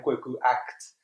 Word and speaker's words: Kweku Aacht: I am Kweku Aacht.